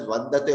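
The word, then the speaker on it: वन्दते: I can also put an anuswara there and still I have to pronounce it as vandate only, no?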